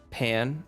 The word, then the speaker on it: pain: By the way, Jess is pronounced Pan.